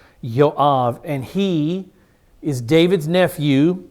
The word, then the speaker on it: Joab: Remember the J uh the Hebrew language has no sound for J. Uh J's are always translated as wise pronounced as wise like the name Jesus. A proper Jew would never say Jesus. His name is Yeshua. This man Joab's name is Yav. Yav.